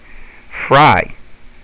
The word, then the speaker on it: fry: syllables as is happy fry the Y makes the long I sound because that Y is